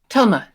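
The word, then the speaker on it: Thelma: your name was Talma Telma yes uh with a th but pronounced like a t very confusing I know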